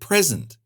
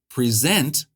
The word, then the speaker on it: present: For example, the word present can be pronounced with stress on the first syllable to mean a gift or now. If it's on the second syllable, present, it means to give or introduce something.